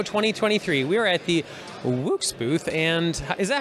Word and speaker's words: Woox: You know, you can say it any way you like. We say it Woox. It's like Woox. Wood, but with an X.